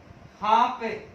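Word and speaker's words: half: और कुछ उदाहरणों को प्रस्तुत करता है जिसमें एल जैसे साइलेंट रहता है, जैसे हाफ, हाफ, हाफ के अलावा काफ, ठीक है, बाम, पाम और काम।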